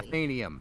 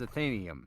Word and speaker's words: Athenaeum: is batman we will also know how to pronounce the title of our own show correctly ethanium it's athanium athenian i'm sure i believe you i have